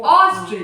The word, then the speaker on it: ostrich: And next है ऑस्ट्रिच, ऑस्ट्रिच normal, हम लोग ऑस्ट्रिच बोला कैसे, ओ खींच के, ऑस्ट्रिच, कैसे बोला, ऑस्ट्रिच।